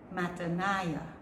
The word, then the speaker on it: Mattaniah: Mattaniah.